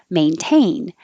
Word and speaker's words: maintain: that with 29 because even though it's spelled the same t a i n maintain now the tain is in the stressed syllable so you can't change it it's true for a